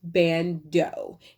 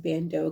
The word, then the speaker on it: Ban.do: that's based in california by the name of bando and that's spelled b is in boy a n dot